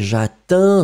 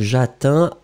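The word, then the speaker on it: j'atteins: Effectivement, le verbe atteindre, première personne, Pour le présent, eh bien, c'est Jatin, souvenez-vous. Hein. Il n'est pas très très complexe, mais en même temps, souvenez-vous que le D disparaît totalement. Donc, Jatin, A-T-T-E-I-N-S.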